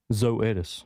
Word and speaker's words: Zoetis: Zoetis.